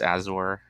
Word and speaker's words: Azure: I believe it's pronounced Azure.